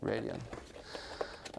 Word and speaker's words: Radeon: The AMD Radeon, how do you pronounce it, Michiel? Radeon.